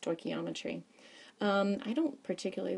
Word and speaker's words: stoichiometry: big word and it looks very scary it's pronounced stochiometry um I don't particularly like to use it